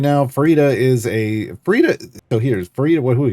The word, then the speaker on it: Farideh: Yes, it is pronounced Farideh, like fajita.